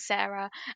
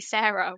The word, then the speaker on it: Sara: Sara I've always thought Sara is the name that should be so easy to pronounce like you've got Tara Zara Cara why is it s s is suddenly Sarah when it's with an S at the front it doesn't make sense